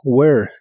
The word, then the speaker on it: where: Y practicarás con el interrogativo where, que significa dónde o a dónde. No se pronuncia la H ni tampoco se pronuncia la E del final.